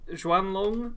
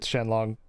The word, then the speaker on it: Xuanlong: The Xuanlong assault rifle. I'm probably pronouncing it wrong. I think it's pronounced Shenlong, but Shenlong?